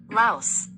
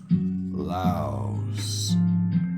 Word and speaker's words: Laos: Laos. Laos. Laos. Just like the bug.